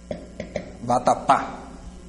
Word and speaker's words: vatapá: Vatapá. Vatapá. Por que vai ser acentuado? Se eu for pegar a palavra, né? Vatapá. Sílaba tônica é a última, ela acaba em A.